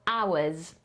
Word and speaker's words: hours: Thera limitton working hours Zwróćmy uwagę na słówko awes bo mam piszemy tak h o u r s ale wymawiamy tak jakby tego nie było ale OK ale to